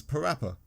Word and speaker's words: PaRappa: Another intriguing thing I thought I didn't really understand why his name was PaRappa. I know that rhymes with rapper.